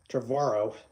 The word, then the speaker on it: Trevorrow: the movie in theaters once you know Colin trevorrow t-r-e-v-o-r-r-o-r-o-w you know his last name is so hard to pronounce Colin trevorrow you know there is a